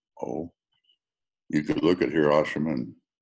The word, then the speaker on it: Hiroshima: Or we could go back to, oh, you could look at Hiroshima and Hiroshima, if I have to pronounce that right. I've always had the Walter Cronkite pronunciation, which is wrong. Hiroshima, Nagasaki, yeah, but maybe